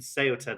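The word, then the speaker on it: Ceuta: denim kitchen is is about and you mentioned seota there is is that pronounced right yeah that's the Border yeah that's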